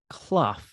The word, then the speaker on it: Clough: very special guest clough like tough she's tough like tough c-l-o-u-g-h common spelling and uh now